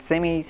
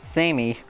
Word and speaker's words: Samey: starts quickly by saying her name pronounced Sammy and not say me she becomes nervous that